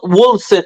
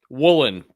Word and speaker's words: Woolen: And then you got Tariq Wilson. I keep saying his fucking last name wrong. Woolen? Woolen. Tariq Woolen. I keep saying Wilson.